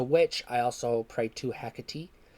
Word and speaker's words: Hecate: I also prayed to hecatee some call her hecati or heckate however you say her name I say hecatee that's just how I heard it first and it sounds right to me and it looks right